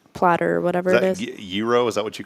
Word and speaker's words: gyro: or whatever it is euro is that what you call that stuff so actually we asked them and it's pronounced Euro Euro like currency like the currency okay I always thought it was gyro you know what's cool